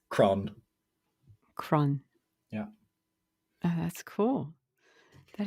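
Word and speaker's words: crann: tree in irish uh very simple word it's kron kron yeah that's cool that is very cool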